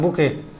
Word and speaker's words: bouquet: এবারে আসেন, এই যে ফ্লাওয়ারের সমষ্টি হচ্ছে আমাদের বাঞ্চ, বাঞ্চ অথবা বুকে, BOUQUET, টি এর উচ্চারণ হবে না, বুকে।